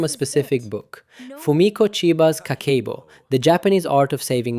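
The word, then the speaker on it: 家計簿: Habit one, kakeibo, pronounced roughly kakeibo, literally the household account book.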